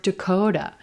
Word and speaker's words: Dakota: Do you hear that T is becoming a flap T? Sounds like a quick D.